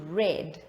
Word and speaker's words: read: sang read changes to red now you will see for read the past tense version is spelled exactly the same but they are pronounced or they are said differently so you say read